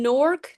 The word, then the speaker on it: Newark: And I learned it's pronounced NORC, like N O R K.